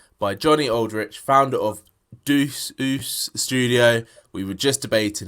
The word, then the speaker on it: Deuce: And it is Juice Studio, or at least that's how I say it.